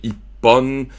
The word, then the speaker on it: Ippon: En fait, c'est I-hon, mais ça devient Ippon. Fait que tu rajoutes un P, mais il n'est pas vraiment... Il est muet, le P, dans le fond. Oui, mais on doit le prononcer. Mais en tout cas, fait que tu sais, c'est Ippon, Nihon, Sanbon.